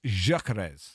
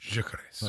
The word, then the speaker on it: Gyökeres: A Swede messaged me and said it's Gyökeres. Gyökeres.